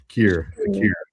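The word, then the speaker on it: Kirra: Kira.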